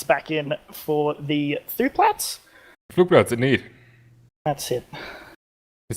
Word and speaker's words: Flugplatz: Flugplatz, indeed.